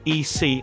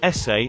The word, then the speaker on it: ese: She quickly interjected, "Oh, I think you pronounce it EC, I think they just made it up, like their own nickname. I am Mexican. It's pronounced like essay and it's equal to bro or man."